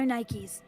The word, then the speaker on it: NIKKE: have been so good just added the extra K but still pronounced it Nike yeah like honestly like